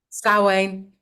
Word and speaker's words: Samhain: Samhain. Samhain? Yeah, it's spelt Samhain, but it's said Samhain.